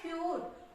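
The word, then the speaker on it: cute: Consonant sound आता है, यू के बाद जब भी कोई कॉन्सोनेंट साउंड आता है और उसके जस्ट बाद ई लिखा हुआ हो तो हमेशा इसका साउंड यू ही निकलता है। जैसे आप देखोगे यहाँ पे भी ई और यहाँ पे भी यू, और बीच में है कॉन्सोनेंट साउंड बी, तो यहाँ पे ट्यूब, इसको क्या पढ़ेंगे हम ट्यूब।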